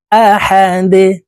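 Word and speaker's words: أحد: আল্লাহু আহাদ আহাদ দাল কলকুলার হরফ নিচের দিকে ধাবিত করে ধাক্কা দিয়ে উচ্চারণ করব আহাদ কুলহু আল্লাহু আহাদ আল্লাহুস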